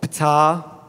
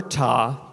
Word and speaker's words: Ptah: And it's called Ptah, or Ta, depending how you pronounce it, but Ptah the El Daoud.